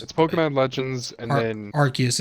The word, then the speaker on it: Arceus: to not pull the trigger, is Legends of Arceus. Is it just Legend Yes. Arceus or is it Legend of Arceus?